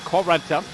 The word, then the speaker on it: Correnta: Ted said, pronounce it like she's Italian. Correnta.